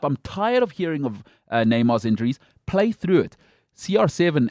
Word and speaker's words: Neymar: greater stability and here it is for me neymar i've got to say it right he's the